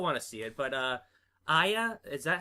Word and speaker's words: Aya: Well, I still want to see it, but Aya, is that how you say it? Aya, yeah.